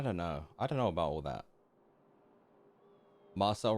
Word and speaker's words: Marcel: Marcel rhymes with incel.